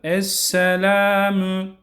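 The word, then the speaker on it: السَّلَامُ: Esselamü müyü çekmiyoruz. Bakın burada yine okuyucuların yapmış olduğu ekser hata müyü çekmek. Buradaki müyü çekmeden esselamü esselamü aleyna.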